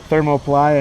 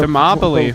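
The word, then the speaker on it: Thermopylae: I said thermoplia. It's actually the thermopoly. It's thermopoly. Thermopoly war.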